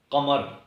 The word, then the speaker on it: قمر: ساتھ لکھا جاتا ہے، قمر۔ اس کا تلفظ بھی قریباً اسی طرح ہے، یعنی قاف پر زبر ہے، میم پر زبر ہے اور رے ساکن حرف ہے۔ اس قمر کا مطلب